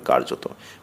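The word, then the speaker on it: কার্যতঃ: অধিকাংশ স্থলে এটি অনুচ্চারিত যেমন শব্দের শেষে এটি অনুচ্চারিত বস্তুত বিসর্গ কিন্তু পড়া হবে বস্তুত কার্যত পড়তে হবে কার্যত বিশেষত পড়তে হবে বিশেষত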